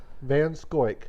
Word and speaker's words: Van Schoiack: Van Schoiack.